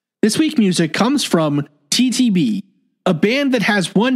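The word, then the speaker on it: (T-T)b: It's spelt parentheses, uppercase T, dash, uppercase T, end parentheses, lowercase b, which is pronounced TTB, or at least that's what I've been told by one of their band members.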